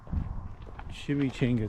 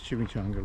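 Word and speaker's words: chimichanga: It is Chimmy Chenga time. I know I say it wrong. I know it's chimchanga, but I'm in Texas. It's a chimmy chenga.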